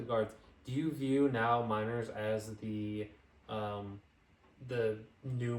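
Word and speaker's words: Meinerz: Quin miners oh Quin I think it's pronounced miners right Manas okay um that's what I originally thought but then I heard somebody say miners so I was like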